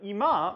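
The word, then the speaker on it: 居間: So like, ima means now, but ima means living room. For now, the pitch drops on the first syllable, but for living room, it drops on the second.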